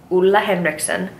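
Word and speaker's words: Ole Henriksen: video will be this guy this is the EULA Henriksen nurture me facial water it's pronounced ulla ulla Hendrickson he's Danish his videos are adorable he's my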